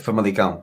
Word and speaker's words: Famalicão: Famalicão, or how do you pronounce it? That's it. Famalicão, yeah.